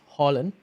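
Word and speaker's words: Haaland: week two i've got harlan on the screen oh apparently in norway you pronounce it as holland according to him as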